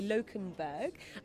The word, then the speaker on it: Lokenberg: I'm going to make sure I pronounce the surname correctly. Lokenberg.